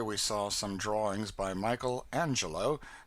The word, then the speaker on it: Michelangelo: In this same library, we saw some drawings by Michelangelo. These Italians call him Mikuel Anel and Leonardo da Vinci.